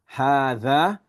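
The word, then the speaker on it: هٰذَا: Hadha, it says here, is pronounced as hadha.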